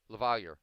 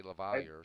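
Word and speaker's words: LaValliere: it Lavalier. Lavalier. Lavalier, okay. That's how they've always said it in Pittsburgh. I mean, it's a French name. It should be Well, Lavalier, but they always say Lavalier.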